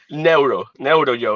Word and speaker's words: Neuro Joe: Neutral Joe, Neuro, Joe. It's like Neuro Joe. neuro from the brain.